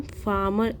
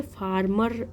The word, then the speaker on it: farmer: तो यहाँ पे इसे देखिए, इसे हम फार्मर प्रोनाउंस करेंगे, इसे फार्मर ऐसे नहीं प्रोनाउंस करेंगे। इसमें आर आपका साइलेंट रहेगा, ऐसे फार्मर इसे प्रोनाउंस करते हैं।